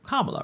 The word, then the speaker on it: Kamala: pronounce her name because it's Kam it's Kamala Harris right not K it's Kamala right Kamala whatever um so